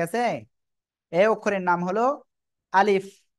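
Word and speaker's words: ألف: যে অক্ষরটা এই অক্ষরটা আমরা এখন শিখলাম কিভাবে উচ্চারণ করব আলিফ দ্রুত পড়বো আমরা আলিফ অক্ষরের নাম কি সবাই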